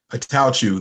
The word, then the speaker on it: Attaochu: Attaochu.